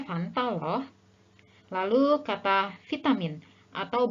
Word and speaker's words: Fanta: disitu jadi seharusnya cukur ada juga yang suka bilang minum pamta padahal seharusnya Fanta Loh Lalu kata vitamin